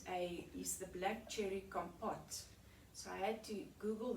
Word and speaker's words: compote: forest cake is a is the black cherry compote so i had to google that word because